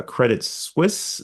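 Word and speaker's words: Credit Suisse: how to pronounce a credit Swiss sze well it it well it depends on where you're at in the world and so if you're in America it is credit swis uh ironically if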